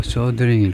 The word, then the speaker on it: soldering: 이게 솔더링이 아니고 소더링일 겁니다.